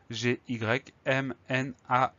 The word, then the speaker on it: gymnase: À noter que le son ZE de la fin de gymnase se fait avec un seul S, puisqu'on a le A et le E. On a deux voyelles, ça veut dire que dans ce contexte-là, la lettre S se prononce ZE, mais ça, on le sait par cœur.